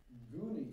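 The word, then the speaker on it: Guiney: But the Gooney family, and their last name is spelled G-U-I-N-E-Y, Mary Beth's neighbors, and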